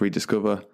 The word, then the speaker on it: RDSCVR: So it's spelt 6 letters, RDSCVR, pronounced Rediscover.